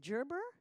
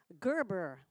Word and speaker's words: Gerber: has finished his apprenticeship program with, is it Gerber? Gerber. It's that difference in the pronunciation of that G.